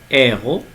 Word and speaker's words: héros: Donc ici, le H aspiré. Héros. On ne prononce pas donc le H.